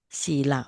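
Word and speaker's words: sīla: So virtual morality is you have to pronounce long a long long I sila.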